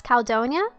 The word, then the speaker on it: Caldonia: you pronounce your name pronounce caledonia like caledonia no worries i'm used